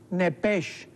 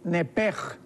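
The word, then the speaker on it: נפש: Esta palabra alma en el hebreo es nepesh, pero la CH en el hebreo se pronuncia como J. Entonces podríamos decir nepej, con J. Entonces, la palabra alma en el original es nepej.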